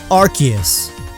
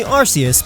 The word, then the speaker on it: Arceus: All official pronunciations of Arceus after Generation 4 pronounce it this way. It was originally Arceus, but then they realized Arse is British English for butt, so they officially changed it. But understand that every single origin of Arceus' name has arc in it, not arse.